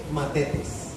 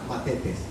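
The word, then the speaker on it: μαθητής: En griego bíblico, idioma en el cual originalmente se escribe el Nuevo Testamento, la palabra es matetes, TH en la mitad, matetes, aprendiz, discípulo, del verbo mantano, que significa aprender.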